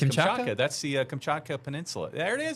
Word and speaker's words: Kamchatka: We are going to Russia, and I don't even know if I'm going to try to pronounce that. Kamchatka, Russia. Jamie, Kamchatka, yeah. It's Kamchatka.